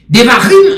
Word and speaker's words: Devarim: Devarim en hébreu, il est écrit D-E-V-A-R-I-M. D-E-V-A-R-I-M. D-E-V-A-R-I-M. Il prononce comme ça, Devarim.